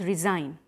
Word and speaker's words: resign: which we speak becomes resign sign it has a pronunciation of Z for example my boss